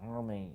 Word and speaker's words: Hermey: But it is Hermey, not Herbie.